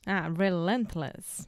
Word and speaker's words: relentless: have the word relentless relentless yes the stress is on the middle syllable relentless relentless you know